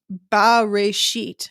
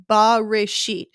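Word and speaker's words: בְּרֵאשִׁית: And the word there is pronounced Bareshit, B-A-R, Bareshit.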